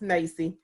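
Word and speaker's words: NAEYC: So the National Association for the Education of Young Children, which some people pronounce as NACE, is the largest professional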